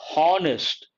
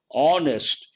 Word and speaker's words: honest: A lot of people pronounce this word honest. Based on that, they say a honest person. Wrong. H is silent. So here we have to say honest, because H is silent.